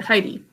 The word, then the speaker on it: Heidi: That's a tough name, but we pronounce it Heidi.